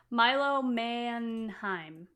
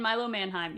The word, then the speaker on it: Milo Manheim: Milo Manheim. Yeah. Yeah. Mannheim. I forgot I had the pronunciation up on Google just in case. Tegan Croft and Milo Mannheim.